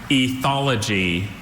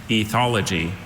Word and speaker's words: ethology: Ethology or ethology.